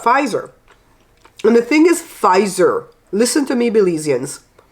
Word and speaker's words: Pfizer: And the thing is, Pfizer, listen to me, Belizeans, it's not visor with a V. There's no V in there. The PF, they make it sounds like a F. Pfizer, okay? The P is silent.